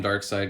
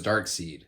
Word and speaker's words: Darkseid: to pronounce uh words i always for the longest time thought it was dark seed and i know i'm